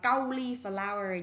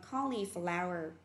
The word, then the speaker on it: cauliflower: Tiếp tục từ này là cauliflower, không đọc là cauliflower nha, đọc là cauliflower.